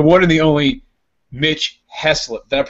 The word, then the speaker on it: Heaslip: last name hey yeah it's actually up for debate is a little bit of a family a family feud over that I say he slipped he slips they had ice lady's